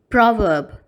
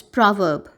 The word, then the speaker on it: proverb: Here, you must notice that the first syllable of the word has a sound O to it, as in pro. And the second syllable of the word is pronounced as verb, without pronouncing the letter R.